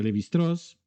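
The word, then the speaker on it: Lévi-Strauss: su alumno Cloud levist se escribe levistraus se pronuncia levitraz se embarca en varios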